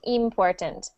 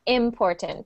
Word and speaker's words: important: So if you see the word important, starts with an I, and because it's at the beginning of the word, you know it's not important. It's important. Try that.